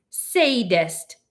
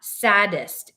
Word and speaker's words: sadist: what you're talking about that's sadist not saddest you know charles wallace said and giggled again lots of people don't pronounce it correctly well i don't care